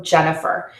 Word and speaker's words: Jennifer: Jen is the stressed syllable in that word. So it's loud, long, and high, and that is the longest vowel in my name. The unstressed syllable is the It's one vowel, it's very short, it's very soft, and it's lower. So Jennifer. So again, make sure to